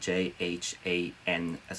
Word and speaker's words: jhana: to explore it further it's spelled j h a n as in nancy a again j h a and a it's called jhana or meditative absorption which